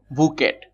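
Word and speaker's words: bouquet: Actually উচ্চারণটা দেখো বুকেট, টি উচ্চারণটা এমন ভাবে হবে যেন এটা হচ্ছে উচ্চ থাকে।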